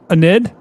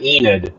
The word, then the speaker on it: Enid: This time it does include the town of Anid, right? Storm media, that's how you pronounce it. So folks that live in Oklahoma, if you live in Enid, uh, be uh be getting to your safe place.